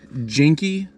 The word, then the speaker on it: Jinkey: sent me um so it's pronounced jinky so if you watch